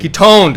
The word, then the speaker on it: KetonedVegan: Ketoned, because I've been saying toned, but I'm like, Yeah, KetonedVegan.